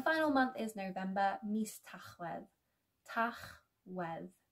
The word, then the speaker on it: Tachwedd: And the final month is November, mis Tachwedd. Tachwedd. Tachwedd.